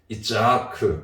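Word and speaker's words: יצחק: 이삭에 대한 히브리어 발음이 이츠하크거든요.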